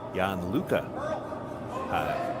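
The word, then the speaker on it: Jan-Luca: And we now think it's Jan Luca, is the pronunciation for the. He did confirm that.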